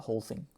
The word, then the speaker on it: whole: And this year Apple is removing the whole thing. There's no pronunciation of the H here. It's not, there's no pronunciation of the W.